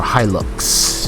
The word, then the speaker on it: Hilux: version of a toyota hilux or hilux that's how you pronounce it and i'm really surprised